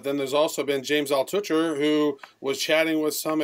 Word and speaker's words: Altucher: Altucher.